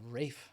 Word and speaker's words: Ralph: Actually, I believe it's technically called Rafe Fiennes, but Ralph is what it usually comes out of.